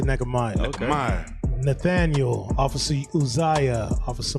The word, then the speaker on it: Nehemiah: That's how you say it. I don't say Netch. I say Nehemiah.